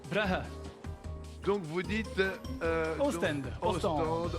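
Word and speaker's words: Brugge: Et à la flamande, Bruges, ça se dit comment? Brahe, Donc vous dites...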